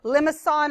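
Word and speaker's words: limaçon: called a limits on it has this weird C I don't know if this is called but limits on is how you say it and yeah there you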